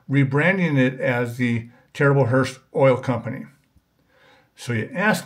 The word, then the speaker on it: Herbst: The original name was Terrible Herbst. The B is silent. It was started by a man by the name of Ed Herbst, who started the Martin Oil Company in Chicago in 1938.